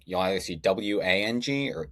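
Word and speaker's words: Whang: I just pronounce it Wang but I'm my dad's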